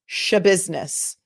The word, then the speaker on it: Schabusiness: Shabusiness. It's spelled SCHABUSINESS, like it sounds.